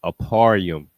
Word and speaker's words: Ephraim: code H 669 uh Ephraim in the Hebrew is pronounced aarum aarum the root word